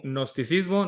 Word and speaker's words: gnosticismo: Pronúncialo casi como gnosticismo, nada más ahí medio dejen caer un poquillo la G y ya, no hay ningún problema.